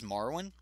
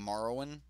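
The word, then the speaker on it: Marwyn: playable but I'm pretty I'm pronouncing this is Marwin because like the game Marwin so Marwin the nurturer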